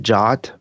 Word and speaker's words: JWT: uh the JWT uh some people pronounce it jot but I prefer to just say JWT because it sounds more